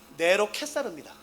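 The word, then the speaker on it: נרון קסר: 이스라엘 사람들에게는요, 이 단어를 발음하면은 이 단어의 뜻과 666이 동시에 머리 딱 떠올라요. NRWN KSR 읽으실 수 있으시겠어요? 네로 켓사르입니다.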